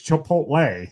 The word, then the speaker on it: Chipotle: Okay, so 5050 there because I call it Chipotle and Aeron's like, "It's Chipotle." Yeah, the T isn't at the end. It's before the L. So, it's Chipotle.